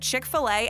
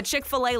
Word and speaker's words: Chick-fil-A: The Chick-fil-A logo and name is actually a great example of some very clever marketing. First of all, the name is a play on the American pronunciation of filet.